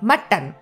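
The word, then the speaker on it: Mattan: এখন জায়গার এই না ওটা কিন্তু এম ইউ টি টি ও এন নয় এটা এম এ টি টি এ এন মাটন actually তবে উচ্চারণ মাটন হ্যাঁ সেটাই হচ্ছে ব্যাপার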